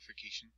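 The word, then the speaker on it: ossification: begins the process of ocation pronounced ucation ocation is when the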